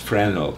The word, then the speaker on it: Fresnel: Sometimes it's pronounced Fresnel, sometimes I think Fresnel is more French because he's a French guy.